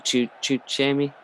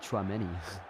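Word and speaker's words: Tchouaméni: I can't even pronounce his name. Chuchemi, the number 8. Chouameni. Chouameni. So I'm gonna guess it's that just from looking at it.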